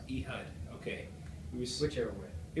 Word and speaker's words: Ehud: how do you i'm sorry how do you pronounce it he hud all right e hud okay we switch everywhere it was sent from